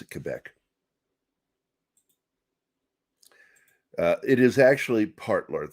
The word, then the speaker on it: Quebec: are at quebec all right i'm army we pronounce it quebec it is actually part lord thought just so